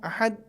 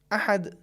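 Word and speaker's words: أحد: طریقہ صحیح نہیں ہے۔ پہلا تلفظ اگر یوں ہو احد، یہ بھی صحیح نہیں ہے چونکہ آواز دال کی بالکل نہیں آئی۔ دوسرا تلفظ یہ ہے احد، یہ صحیح ہے چونکہ آواز دال کی سنائی دے رہی ہے، لیکن اگر ہم یوں تلفظ کریں احد، یہ بھی تلفظ صحیح نہیں ہے چونکہ اس پر تشدید جیسی کیفیت آ گئی۔ ہمارے لیے ضروری ہے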